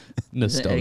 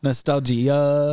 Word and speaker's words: nostalgia: Nostalgia. Get it wrong. Nostalgia. You just, you really landed hard on that IA at the end. Yeah, you pronounce it like a slam poet would.